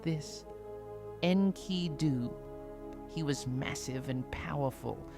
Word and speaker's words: Enkidu: And you would say it like this, Enkidu.